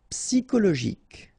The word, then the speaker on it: psychologique: Okay, remember it's an exception here because you've got this C-H-O. Normally we should pronounce it sho, okay, but in that case we pronounce it ko. Psychologique. Remember, final Q-U-E like that, K.